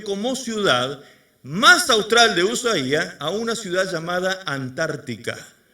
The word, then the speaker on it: Ushuaia: Ushuaia, exactamente. Ushuaia, o Ushuaia, como le dicen algunos, porque tiene una I en la I, un acento en la I.